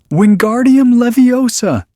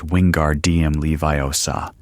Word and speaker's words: Wingardium Leviosa: "Wingardium leviosa!" he shouted, waving his long arms like a windmill. "You're saying it wrong." Harry heard Hermione snap. "It's Wingard DM Leviiosa. Make the gar nice and long."